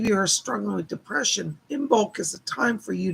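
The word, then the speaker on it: Imbolc: yes glittery room but it's spelled i-m-b-o-l-c in bulk but it comes from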